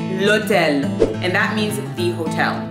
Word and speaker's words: l'hôtel: So actually, it's really similar to how we say it in English. In French, we say l'hôtel, and that means the hotel, okay?